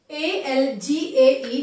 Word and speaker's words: algae: A-L-G-A-E is pronounced as algae.